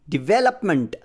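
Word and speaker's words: development: ಎನ್ T suffix ಸೇರಿಸಿರೋದು ಇದು ಅನ್ಸ್ಟ್ರೆಸ್ಟ್ syllable ಇದು ಸೋ ಅದನ್ನು ಲೆಟರ್ ಎಂ ಆದ್ಮೇಲೆ ಲೆಟರ್ ಎ ಅನ್ನು ಶೋ ಸೌಂಡ್ ಅ ಬಳಸಬೇಕಾಗುತ್ತೆ ಮಂಟ್ ಆಗುತ್ತೆ ಮೆಂಟ್ ಆಗಲ್ಲ ಮಂಟ್ ಆಗುತ್ತೆ ಸೋ ಡೆವಲಪ್ಮೆಂಟ್ ಹೀಗೆ ಉಚ್ಚಾರಣೆ ಬರುತ್ತೆ ಡೆವಲಪ್ ಡೆವಲಪ್ಡ್ ಡೆವಲಪ್ಮೆಂಟ್ ಹೀಗೆ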